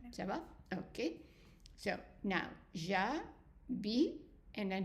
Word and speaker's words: J'habite: But because we have more letters in that word, then this E here is silent. So we'll put it in gray.